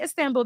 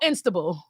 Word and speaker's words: Istanbul: I'm like, "Oh, Cafe Istanbul." They're like, "Oh, Instable."